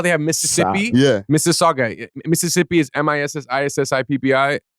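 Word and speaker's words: Mississauga: people botch up Miss Saga they call it Mr Sagwa or Sagwa that they went crazy with the pronunciation yo it's literally like how you you know how they have Mississippi Miss Saga Mississippi is MSS I PPI Miss Saga is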